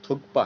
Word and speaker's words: थुप्पा: वो थुप्पा, और देखिए इसका जो सही नाम है, जो प्रोनाउंसिएशन है वो थुप्पा है। ठीक है, हम लोग जो कुछ और ही बोलते हैं, थुपका बोल देते हैं, थुपका। ठीक है, तो यहाँ पे थुप्पा।